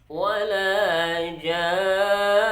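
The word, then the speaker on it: وَلَا جَانٌّ: Di akhir ayat yang ke-39 itu ada kalimat wala jan. Bagaimana cara membacanya? Ja itu mesti dibaca 3 alif. Dan nun itu kita sukunkan. Akan tetapi kan dia ada tasydid, maka mesti kita dengungkan terlebih dahulu.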